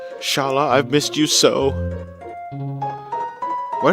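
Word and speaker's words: Schala: The way they write it in here, it's got to be Shala. I wouldn't I wouldn't pronounce it scala even though s c maybe s ch c ch is an sk sound but it could also be an sh sound just with an extra letter because because it's because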